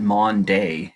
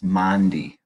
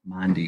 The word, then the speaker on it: Maundy: the pronunciation of Maundy it's not Monday it's Mondi Maundy for mandate Herman Dom